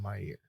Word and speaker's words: Meir: Golda Meir. Golda Meow. What? Meir. Deva. Golda Meir. Kels. Golda Meir. And Twy. Go to my ear. It is Golda Meir.